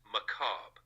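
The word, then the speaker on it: macabre: macabra maab maaba the word is maab it's pronounced maab this adjective describes something that is disturbing and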